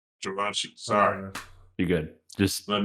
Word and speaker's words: Givenchy: to set the record straight, Givenchy. Givenchy, sorry.